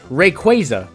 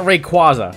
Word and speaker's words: Rayquaza: an often discussed one Rayquaza not Rayquaza it comes from quazar which is a galactic phenomenon even if quaza might